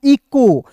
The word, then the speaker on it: echo: ई के रूप में, सी एच का उच्चारण क के रूप में, ओ का उच्चारण ओ के रूप में। देखिए ई सी एच ओ को क्या पढ़ेंगे दोस्तों, इको।